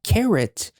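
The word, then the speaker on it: carat: is carrot cake now carrot it sounds like carrot like the food carrot cake but it is spelled as c a r a t which is Carrot uh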